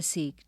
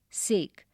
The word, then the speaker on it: sake: Sake, a popular Japanese drink. Sa is pronounced like fa in father and K rhymes with way.